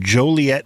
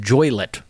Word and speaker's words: Joliet: that place was pronounced joylet enjoylet yeah Joliet it looks like it's pronounced it's not just like toilet with a J on it the uh the eye